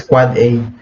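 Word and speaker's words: AAAA: end device IP version 6 address pronounces quad-a MX e mail exchange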